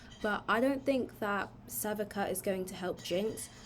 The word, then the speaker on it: Sevika: How do you even pronounce this girl's name? Wait. Sevika. Okay, apparently it's Sevica.